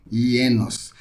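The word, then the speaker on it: γένος: Ienos. É escrito genos, mas você pronuncia ienos.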